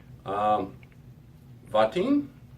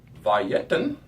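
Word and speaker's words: וַיִּתֵּן: Now notice how I changed the pronunciation of the first word. And he gave silver, gam, also to me. All right? There was not a schwa there.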